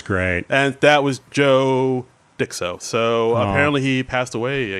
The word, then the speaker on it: Dicso: It's Dicso, but if you look at that, it looks just like disco. He's just changed the C and the S.